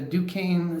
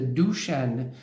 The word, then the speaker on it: Duchenne: mentioned is something called the duquesne smile which is actually i found out later is pronounced the duchenne smile okay there are several